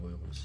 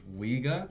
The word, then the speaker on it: Uyghur: I've spoken about this before, but it's like when people get you to pronounce it a certain way, for example, which makes me cringe, is Uyghur. Now look, you can say it like that. I respect that you're at least trying, but try say Uyghur at least, or Uyghur if you can make that sound.